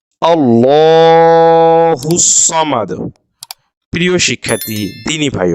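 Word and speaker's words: الله الصمد: জবরটা যেহেতু জবর আছে ডানদিকে কিসের উচ্চারণ হবে বাংলার ল এর মত উচ্চারণটি হবে আল্লাহুস সামাদ আল্লাহুস সামাদ প্রিয় শিক্ষার্থী দ্বীনি ভাই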